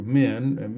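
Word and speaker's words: מִן: Some of the most common ones is men, like we would say men in a plural, but in Hebrew men, meaning from or out of, and really emphasizing separation from a source.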